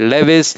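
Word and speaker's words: Lewis: लेविस, लुईस, जैसा pronounce करना करो, लेविस या लुईस बेसिस।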